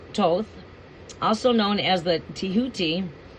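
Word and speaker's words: Thoth: Th pronounced as Toth, also known as the Tihuti, is the ancient Egyptian ibis-headed god of Ryden, divine magic, and the moon.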